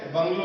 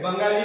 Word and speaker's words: bungalow: Actually बंगलो इज ए बंगाली word. Bengali people say बंगला for their house. म्हणजे जे बंगाली लोक आहेत ते आपल्या घराला काय म्हणतात, बंगला बोलतात. So British pronounce it like बंगलो.